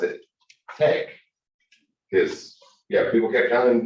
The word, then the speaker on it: TeX: the greek letter i it's like a k pronounced like a k uh not like an x so uh we pronounce we pronounce it tech because yeah people kept